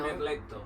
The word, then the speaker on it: merletto: Merletto. Merletto. Merletto, grazie. Merletto. Merletto. Sì? With R. Merletto. You have to roll your R.